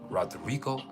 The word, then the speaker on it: Rodrigo: But you have to roll your R's. Rodrigo the Dawn. And you can't say it Rodrigo. No, you say Rodrigo. You have to say the whole thing. The Dawn. And if you don't roll your R's, you're not getting the vibration right.